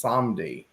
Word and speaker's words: Samedi: And she said that we were pronouncing the word Samedi wrong. It's Samdi.